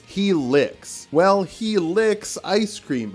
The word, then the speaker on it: Helice: Wow, he is a chump with a big long helic? That cannot be how it's pronounced. Yeah, I was wrong. There's an S sound, so it's he licks.